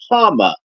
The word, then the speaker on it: Hama: think about but but he says Hama his name is Hama that's how it's pronounced so uh that's probably